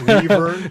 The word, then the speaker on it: wyvern: Actually, it's wyvern.